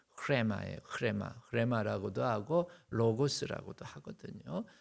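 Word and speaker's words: ῥῆμα: 레마라고도 하고 그 다음에 정확한 발음은 흐레마예요.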